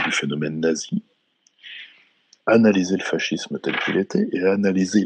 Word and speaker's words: fascisme: On peut là aussi gloser, si tu me permets, c'est-à-dire d'abord le mot fascisme, on le prononce souvent fascisme, je crois qu'on devrait le prononcer fascisme, mais en tout cas, fascisme.